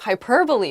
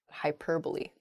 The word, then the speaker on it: hyperbole: really extreme my friend uses a lot of hyperbole when she talks about her life stories I really don't think some of those things happen to her hyperbole not hyperbole next Antarctic not ah oh I